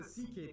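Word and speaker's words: Székely: all went down then we get to the ck people the second most populous minority yes that's how you pronounce it basically cousins of the hungarians these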